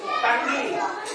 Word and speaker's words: tongue: টাঙ্গি। এই T O N G U E টাঙ্গি উচ্চারণ নয়। উচ্চারণ হচ্ছে টাং।